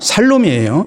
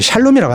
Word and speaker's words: 살롬: 지금은 이제 야 발음이 아니고 살입니다. 살롬이에요. 여러분 성경 보세요. 성경 보면 살롬이라고 돼 있지 샬롬이라고 안 돼 있어요.